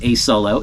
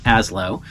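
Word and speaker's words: Asolo: wearing a serious full-blown as low boot it is not pronounced a solo it is pronounced as low uh I do that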